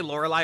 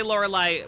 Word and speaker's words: Lorelei: in the English tub and Laura lies three syllables prima's two syllables so they had to uh